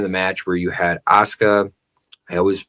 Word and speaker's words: Asuka: a point in the match where you had Asuka, I always mispronounced your name, Eiosky and um Kyrie, not Kyrie, sitting in the center and they pulled like the Spider-Man meme.